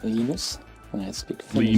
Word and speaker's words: Linus: When I speak Swedish, it's Linus. When I speak Finnish, Linus? it's Linus. When I speak Linus. English, it's Linus. And I really don't care how people pronounce my name.